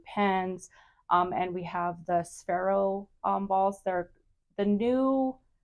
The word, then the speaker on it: Sphero: So it's a sphero ball. That did I pronounce that?